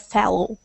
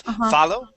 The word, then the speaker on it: fellow: we were passing that fellow. Okay, good. All right. So, uh let's take a look at fellow. Okay. So, instead of follow, it's the with a short e. Fellow. Fellow.